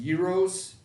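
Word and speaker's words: gyros: rolls one of my favorite foods it's actually pronounced euros but it's Greek food from the country of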